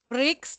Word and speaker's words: Briggs: benar ya mbti ya Myers Bricks Jadi bukan brings ya dan itu Myers belajarnya